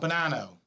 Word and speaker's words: Bonano: No, Bonano. Okay, all right. Listen, I'm a citizen of... Some people have a difficult time pronouncing my name.